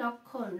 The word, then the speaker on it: লক্ষণ: দেখো এই যে মটা রয়েছে, মটা কিন্তু উচ্চারণটা হবে না, উজ্জ থাকবে, বাট এটা কিন্তু ম। লক্ষণ, খেওটা ডাবল ভাবে উচ্চারণ হচ্ছে, লক্ষণ।